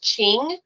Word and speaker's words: Qing: Qing Dynasty I know q i n g is actually pronounced ching and that is where